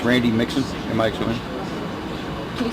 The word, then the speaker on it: Mixon: It's Randy Mixon, M-I-X-O-N. Can you spell it last?